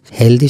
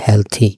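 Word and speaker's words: healthy: এখানে দেয়ার উদ্দেশ্য হচ্ছে হেলদি শব্দটা যে আমরা বলি উচ্চারণ হচ্ছে হেলথি।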